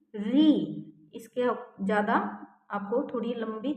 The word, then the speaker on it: ऋ: से री और बरी इसको हम अपने आम भाषा में तो छोटी री बड़ी ऋ छोटी इ बड़ी ई ऐसे बोलते हैं लेकिन उच्चारण में बोलना है हमने री ऋ इसके ज्यादा आपको थोड़ी